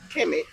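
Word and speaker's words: Kmet: along with Mo and Keesh. Again, another weird name. K-Met. That's how it's spelled. Keesh, whatever. Anyway, they all watch the K be silent. Yeah, I know, right? It just be met.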